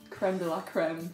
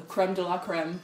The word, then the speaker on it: crème de la crème: Crème de la crème, prononcé en anglais. Crème de la crème.